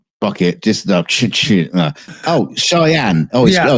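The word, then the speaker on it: Cheyenne: ch oh it just oh shyenne oh oh it's pronounced cheyen no it took me years to make that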